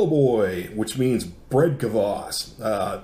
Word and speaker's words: kvass: YouTube calls it boss so I asked a friend of mine who's rushing do you pronounce the Kate he said yes the K makes you strong so we're calling it kvass you're asking me what